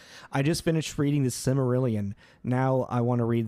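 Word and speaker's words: Silmarillion: know someone pull out the samelan can I pronounce that right simarillion is that right yeah yeah yeah ruo is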